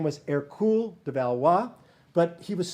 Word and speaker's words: Hercule: france eventually his name his birth name was air cool de valois but he was small he was